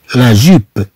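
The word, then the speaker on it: jupe: ثم عندنا لا جو، جو ب، لا جوب، لا جوب، طبعا هذا حرف الجي كما نلاحظ. ثم عندنا إي بعد جي تنطق جو، جو. ثم بي او تنطق ب، ب، لا جوب، لا جوب.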